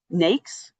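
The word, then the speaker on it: NAICS: Um NAKES is how you pronounce it.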